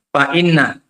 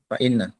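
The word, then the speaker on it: فإنّ: Fa'inna. Itu fa'in salah. Fa'inna. Ya.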